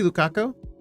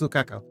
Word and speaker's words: Lukako: uhoh oh no also did he say Lukaku how do he pronounce the name cuz I I do prefer to pronounce them as best as I can l oh it is L lukako okay so it's lukako straight to jail yeah